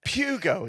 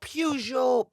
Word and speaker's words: Peugeot: Pugo. Is that No, Pujo. Pujo. Pujo. It's the proper French pronunciation.